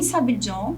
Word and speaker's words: Sabillon: Edwin Sabillon, seria a pronúncia em espanhol, de 13 anos, perdeu mãe, irmão e avô na passagem do furacão Mitch.